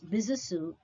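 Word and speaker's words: Besançon: 26 february 1802 in bisusu of france the word b-e-s-a-n-c-o-n is pronounced as bisasu as it is a french word he was a french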